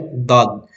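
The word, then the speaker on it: ض: Ibig sabihin, yung gilid dito, didikit mo doon sa gilid doon sa taas. Okay? Dod. Kaya doon lumalabas ang letrang dod.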